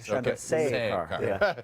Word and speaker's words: Chandrasekhar: You missed one syllable. The say. Chandrasekhar.